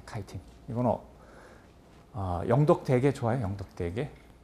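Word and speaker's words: chitin: 셀룰로스를 만들어요 그다음에 마지막에 키틴 또는 영어 발음은 카이틴이에요 카이틴 이거는 영덕 대게 좋아요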